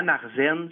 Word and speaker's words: Märzen: Marzen, Ouais. ça s'écrit M-A-R-Z-E-N.